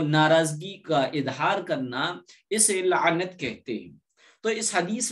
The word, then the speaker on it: لعنت: لعنت ہی کہتے ہیں، لوگ اس کا تلفظ غلط کرتے ہیں، الٹا سیدھا کہتے ہیں، نعلت کہتے ہیں، نعلت نہیں ہے، پہلے لام ہے، پھر عین ہے، پھر نون ہے، پھر تا ہے، لعنت۔ لعنت کے معنی کسی